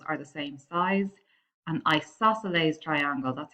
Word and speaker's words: isosceles: therefore all angles are the same size and isosceles triangle that's how you pronounce that one that means up two of